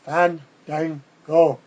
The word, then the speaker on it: Fandango: for Fango that's how he wants his name pronounced Fandango just call them Boogie Knights H The Miz